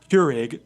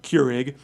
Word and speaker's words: Keurig: Um the name Curig, by the way, which is how they how the how they pronounce it. Curig, uh it's it comes from Dutch.